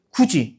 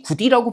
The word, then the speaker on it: 굳이: 굳이, 그죠? 이걸 굳이 굿이라고 발음하지는 않습니다.